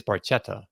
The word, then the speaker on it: Barchetta: My Italian pronunciation, you look at this word and you think it's Barchetta, but no, when there's an H you don't pronounce the H, and then when there's not an H you pronounce the H, I guess.